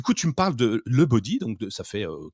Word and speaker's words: Lebodi: Alors, le body, ça s'écrit L E B O D I et le body c'est une marque de body pour femmes.